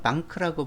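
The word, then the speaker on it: банк: 몽골 사람들은 방크라고 부릅니다. A를 R라고 하는데 그 사람들은 A 발음을 그냥 R로만 발음합니다. 그러니까 A가 애도 되고 아도 되고 경우에 따라 달라지잖아요. 알파벳에서는. 그렇지만 이 사람들은 한 가지로만 하거든요. 그래서 방크라고 부릅니다.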